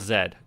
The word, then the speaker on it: Z: And I am Canadian, so I said zed intentionally. That is the correct way to pronounce this letter.